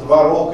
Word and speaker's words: творог: - это Старшая норма теперь сравните вариант творог и творог творог и творог Где будет Старшая норма творог то есть ударение ближе к концу слова слово мужского рода